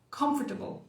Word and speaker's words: comfortable: Mas lá no meio de uma frase, esse O praticamente some. Comfortable.